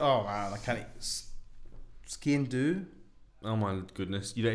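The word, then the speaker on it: sgian dubh: It's spelled very strangely. It is. Yeah. Ski and do. Ski and do. Yeah. But skiing is spelled SGIAN and then DUBH.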